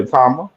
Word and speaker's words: Itauma: Um, I can't wait to see what's next for How do you pronounce that boy's name? Atama. Yeah. Yeah. Atama.